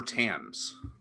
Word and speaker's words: Thames: river timbs or tame it's tim's right it's tames oh i mean i thought the british people said tim no i don't know here uh give me one second let me mute myself your pronunciation youtube no my sister knows okay i'm gonna mute myself real quick okay well i'm gonna look it up it is the river tams yeah that's going to